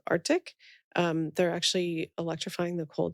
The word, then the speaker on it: Artyc: One of them is a company in our portfolio called Arctic.